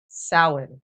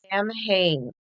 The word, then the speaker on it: Samhain: Now there are different pronunciations. So Samhain Depending, is the Irish pronunciation. I believe the Scottish is more of a it's Samhain.